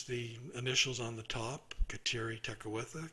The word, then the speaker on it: Kateri: initials on the top Kateri Tekakwitha kateri is the iroquois pronunciation of catherine jews baptized catherine and